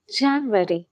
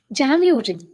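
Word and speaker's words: January: Okay, the first one இஸ் ஜான்வரி. ஜான்வரின்னு தான் சொல்லுவோம், ஆனால் அது கரெக்டாக ஜான்யூரி. ஓகே, ஜான்யூரி. ஓகே, அந்த யூ சவுண்ட் வரலாம். யூ ரி, ஜான்யூரி.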